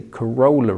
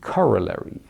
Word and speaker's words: corollary: who once corrected me I used to say coroller but this seems to be the the UK the English pronunciation so it should rather be corollary so we have a corollary what does that